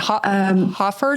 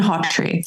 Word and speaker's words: Hawtree: So excuse me, how do you pronounce his name again? Who you worked with in Scotland? Hofford? Yeah, Martin Hawtree.